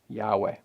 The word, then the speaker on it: Yahweh: scriptures as he intended and based on our best scholarly guess and many others we pronounced that as Yahweh Genesis chapter 4 now